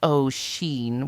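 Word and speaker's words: Oisín: The twath day, said Oin, pronounced, "Oh, Sheen," one of the younger men.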